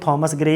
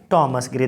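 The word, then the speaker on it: Thomas Gray: थॉमस ग्रे भी यहाँ पे से पढ़ सकते हो, थॉमस ग्रे या टॉमस ग्रे, दोनों ही प्रोनाउंसिएशन ठीक है।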